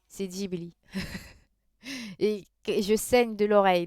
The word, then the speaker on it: Ghibli: commet prononce antoine ça se prononce jebli futur prononcé ghibli moi j'ai un oreilles qui éclate à chaque fois que quelqu'un digby sepa ghibli c'est geely et je saigne de l'oreille dès qu'on me